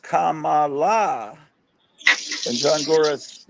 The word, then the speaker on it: Kamala: want to I am one of us corrects me it's pronounced Kamala and John gorus says